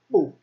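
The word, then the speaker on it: 不: And it's pronounced bu, except for in the special rules discussed in the tones video.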